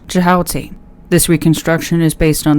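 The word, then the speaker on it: Djehuty: The Egyptian pronunciation of jihoti is not fully known but may be reconstructed as jioti.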